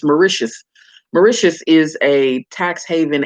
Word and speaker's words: Mauritius: in a previous video i was calling it miritius but i've been doing a little bit more research and i realized that it's pronounced mauritius mauritius is this little bitty island off in